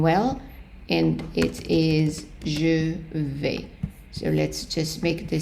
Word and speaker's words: vais: going, we have je vais. The S is not pronounced, so we take in the je vais, meaning I am going, and we are going to put it right here.